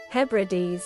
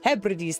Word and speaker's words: Hebrides: How to pronounce? Hebrides. Hebrides, there it is. In Western Highlands. Hebrides, thank you.